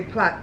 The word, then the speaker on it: plait: British people, you know, people from the Commonwealth will say plait. It's spelled P-L-A-I-T. I've heard Americans call it plait. It's not plait, it's plait.